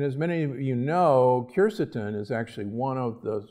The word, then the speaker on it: quercetin: The pith contains large amounts of polyphenols and also phytonutrients, including a compound that you've heard about, quercetin, sometimes pronounced quercetin, that is present in the pith of citrus.